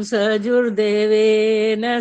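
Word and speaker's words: सजूर्देवेन: है सजूर सव हा सजूर नहीं बोलना होता सजूर देवेन बोलना होता ज में छोटा ह नहीं है य बड़ा उ की मात्रा है सजूर देवेन सजूर देवेन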